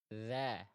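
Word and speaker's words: ذ: Dza. Dza dza. Jadi ujung lidah kita sentuhkan ke ujung gigi seri atas kita dialirkan suaranya.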